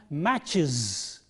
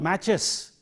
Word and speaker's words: matches: And similarly, ch, match, plural form, matches, is, not matches, matches.